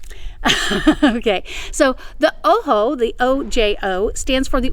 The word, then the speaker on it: Ojo: have taken any spanish you might recognize the word oh ho it means i and it's spelled o j o we will never call it ojo okay so the oho the ojo stands for